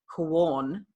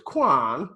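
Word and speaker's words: Quorn: in Berlin but I'm talking about qu ORN pronounced corn I joked and said it was Quan it's not cool the problem with corn let's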